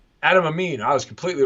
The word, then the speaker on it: Adam Amin: Adam Amin, is that how you say his name? Adam Amin. Adam Amin.